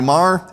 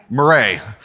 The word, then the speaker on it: Murray: So we have Mehek Cook, Ali Mar, am I mispronouncing your last name? Murray, and Michelle Exner.